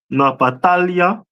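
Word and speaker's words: נפתלי: Is the tribe of Naphtali, which is pronounced in the Hebrew Napatalia, which means my wrestling, and they are the people of today from Argentina to Chile.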